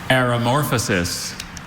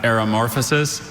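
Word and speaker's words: aromorphosis: Aeramorphosis. Aeramorphosis. Are there any alternate pronunciations? I have areramorphosis and aeramorphosis.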